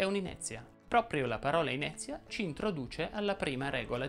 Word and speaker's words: inezia: chiusa quindi inizia oppure inezia ora in questa parola inizia la e tonica e seguita da una consonante ze da due vocali via e quindi deve essere pronunciata aperta inezia altri esempi sono facezia